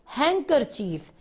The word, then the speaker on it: handkerchief: इसमें D silent होता है, उसकी आवाज नहीं आती, हैंकरचीफ।